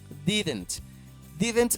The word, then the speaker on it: didn't: Didn't se pronuncia con una ligera E entre la D y la N.